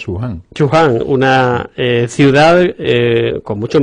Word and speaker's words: Wuhan: o algo así, pero parece ser que se pronuncia Wuhan o Wuhan.